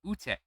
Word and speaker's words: Ute: I have pronounced King and Ute. Apparently, Ute is supposed to be Ut.